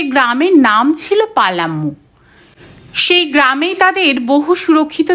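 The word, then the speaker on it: পালামৌ: নির্ধারিত হয়েছে যশোবন্ত একদিন পালাম নামের ব্যাখ্যা শোনাচ্ছিল পালা মৌ নামটার আসল উচ্চারণ পালাম আসলে এই নামটার উৎপত্তি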